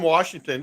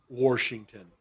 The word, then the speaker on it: Washington: But there's no R in Washington. In Washington. People from Washington call it Washington. Like washer, dryer.